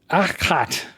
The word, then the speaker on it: Achat: And it's pronounced Achat. The A is like the ah in father, so ah, and the CH is a guttural sound, similar to the CH in Bach, at least according to Google.